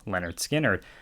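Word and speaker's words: Lynyrd Skynyrd: is where it goes leonard skynyrd here with their debut pronounced leonard skinner um i honestly think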